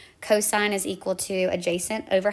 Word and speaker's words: cosine: of the opposite over the hypotenuse C or cosine is really how that's pronounced is going to be the adjacent over